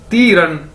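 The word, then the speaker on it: 敌人: तो अगर इन दोनों को इकट्ठा कर दिया जाए, यानी तीरन। DI यानी ती, REN रन, DI ती, REN रन, तीरन।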